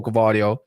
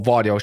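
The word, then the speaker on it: Gvardiol: the back three before gardio or vardo should I say that's how you pronounce his name but he's young Pep's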